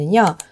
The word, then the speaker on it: singer: 예 를 들어 , "finger" 의 NG 는 "ng-g" 처럼 발음 되고 , "sing" 이라는 단어 에 "er" 을 붙이면 "singer" 가 됩니다 . 이 경우 NG 는 "ng" 처럼 발음 됩니다 . 그러니까 " 핑거 " 가 아니라 " 싱어 " 이고 , " 싱어 " 와 " 핑거 " 는 철자 는 비슷해 보이지만 이 부분 의 발음 이 다르다는 것 을 알 수 있죠 ?